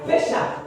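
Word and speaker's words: Pesach: Et en hébraïque, c'est P-K, Pécha. Mais ça s'écrit P-E-2-S-A-H.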